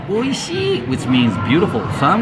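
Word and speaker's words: おいしい: Oishii. Oishii.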